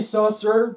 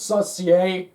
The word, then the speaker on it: Saucier: Oh yeah, by the way, Cody, I think it's Saucier. That's how they say it on TV.